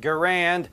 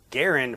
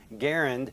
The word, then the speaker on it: Garand: the Garand, says that it was pronounced with G as in go and the stress on